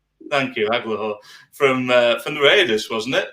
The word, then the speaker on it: Agholor: Agholor. Thank you, Agholor.